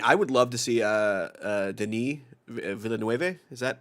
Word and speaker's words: Denis: I mean, I would love to see Denis Villeneuve. Is that how you pronounce it, Marco? You're the more Dennis Villeneuve. I know it's pronounced Denis.